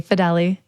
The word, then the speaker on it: Fideli: That's how you say my last Fidele. name. Nobody knows how to pronounce it. I definitely was pronouncing it wrong. Fidel. It's okay. So, yeah. Everyone says Fidel. I'm Italian. It's Fideli. Great.